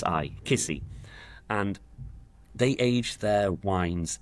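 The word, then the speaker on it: Kisi: So, it's called Kissy. K I S I Kissy.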